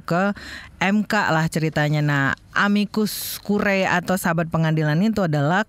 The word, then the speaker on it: amicus curiae: Di pekan ini lagi rame di media lah kebanyakan tuh ngomongin amicus curiae itu loh, yang tulisannya amicus curiae itu.